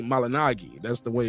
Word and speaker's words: Malignaggi: even say that and for the people saying I'm saying Paula malinagi instead of malignaggi he said his name is supposed to be pronounced that way when I used to follow and I used to watch your show it's supposed to be malinagi that's the way it's